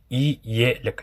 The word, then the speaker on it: елек: То есть, например, «елек» будет читаться как «и-елек», «елек», «елек».